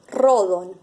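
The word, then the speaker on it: ῥόδον: La leemos como rodon, ¿sí? Ese espíritu áspero me está indicando que voy a pronunciarla como R.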